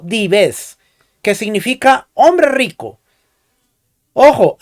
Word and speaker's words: Dives: latina se le dio el nombre de dives pronunciado dives que significa hombre rico ojo aquí no se